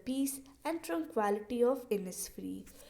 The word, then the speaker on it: Innisfree: और जो हमारा लास्ट वर्ड है जो कि आपको थोड़ा सा डिफ़िकल्ट लग रहा होगा, इसको हम प्रोनाउंस करते हैं एज इनिसफ्री।